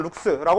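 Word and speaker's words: lux: 스라고 읽 도 하고요 그래서 럭스 혹은 루스라 부르고요 그래서이 빛의 색이 이렇게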